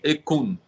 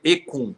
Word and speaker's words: Ekun: O que ele é quase um som percussivo, né? Então é quase um K, né? Então é ekun. Tem esse que e aí vem ekun.